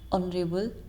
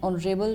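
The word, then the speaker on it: honourable: इसके अगर next rule पे अगर हम जाएंगे तो वो है वर्ड स्टार्टिंग विद एच, जिसके अंदर एच साइलेंट होता है. इसके एग्जांपल क्या है? आर, ऑनरेबल, honest person.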